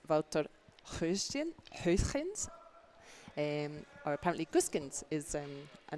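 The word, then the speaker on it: Wouter Gösgens: Now, I checked about how we pronounce this name, so my apologies, Wouter. I was completely mispronouncing your name 2 weeks ago in Baden, so I'm sorry about that. So 4th player for Netherlands is Wouter Huisgens.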